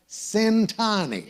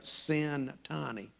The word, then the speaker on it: Centanni: is cintani if you're wondering how to pronounce his last name the first syllable rhymes with the word sin and also in addition